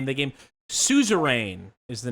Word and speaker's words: Suzerain: wants to know the name of the game suzerain is the name of the game spell it for them s-u-z-e-r-a-i-n suzerain we love it um so oh so